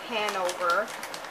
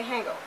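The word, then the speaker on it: Hanover: is the sniders of Handover I said it right this time you guys I usually say hangover Handover bow TI crispy baked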